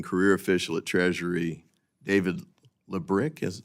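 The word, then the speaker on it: Lebryk: And I believe you were approached by the highest-ranking career official at Treasury, David Lebrick. Am I pronouncing his name correctly? I believe it's Lubrick. Lebrick?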